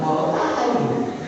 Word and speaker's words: Morotai: Pak Said, ini dibacanya Morotai. Iya, Morotai.